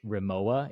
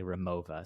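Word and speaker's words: Rimowa: it's not that uh same with like the luggage raoa it's actually remova so I think this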